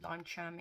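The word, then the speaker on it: Leuchtturm: like mold skin or lime lime charm is how you say it um nowadays it's like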